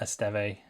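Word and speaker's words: Estève: Um, I know a lot of people have gone for Estee, that's how you say his name, at Burnley, but I do like the Lee's defense a little bit more.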